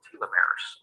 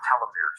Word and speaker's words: telomeres: dna that are called telomeres or telomeres they're pronounced both ways as we go through